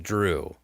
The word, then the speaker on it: Zhu: and as I found out z hu is pronounced drew yes yes which I would never have guessed